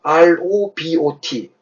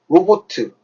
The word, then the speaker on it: robot: R-O-B-O-T. 로보트. 이거 발음 어떻게 해야 되죠? robot입니다. robot. 액션트가 앞에 찍혀요.